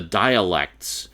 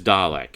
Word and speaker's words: Dalek: The dialects. Yeah, the dialects were really cool. Really? The dialects? Seriously? Like, come on. The word is Dalek. It's not difficult. You're adding syllables. You're making it more complicated.